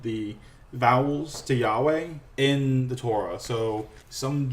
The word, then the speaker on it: Yahweh: their name is incorrect jehovah is a mistranslation or a mispronunciation of Yahweh the Jews did not write the was it called the vowels to Yahweh in the Torah so